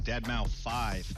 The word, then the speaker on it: deadmau5: joel professionally known as deadmau5 yes that is the correct way to pronounce it tell your friends we're